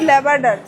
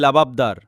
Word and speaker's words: লাবাবদার: এই যে পনির ল্যাবার্ডার। কি আরে বলুন কি? পনির ল্যাবার্ডার। অরে মূর্খ মেয়ে, বানানটা তো ঠিক করে পড়। ওটা পনির ল্যাব্রাডর নয়, ওটা পনির লাবাবদার।